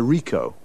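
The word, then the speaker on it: Ricoh: a camera what make and model it's a Rico Rico how do you spell that r i c o h uh okay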